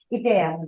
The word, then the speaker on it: Ikea: Ikea, no, Ikea no, Ikea. Que consti. No, perquè jo sempre he dit que Ikea és un nom grec. És la pronunciació exactament de la paraula que vol dir casa.